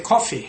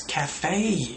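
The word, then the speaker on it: café: They might say, in pronunciation, they might say coffee. I went to the coffee. It's cafe. A-E, cafe. Cafe, not coffee.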